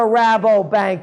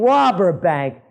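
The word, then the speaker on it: Rabobank: don't know what a rabbo bank is maybe they thought i'm mispronouncing it and i'm saying robert bank but no it's a dutch joint over there another one of the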